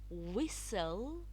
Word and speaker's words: whistle: Some words I have listed some common words: castle, ballet, listen, whistle, often. Can you see the T? It's not pronounced but written.